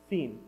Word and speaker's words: Sin: from Elum and journeyed Into the Wilderness of seen pronounced seen apparently between Elum and Mount Si this is